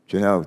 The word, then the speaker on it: Janot: how do you pronounce your last name? Janot? Janot, very good.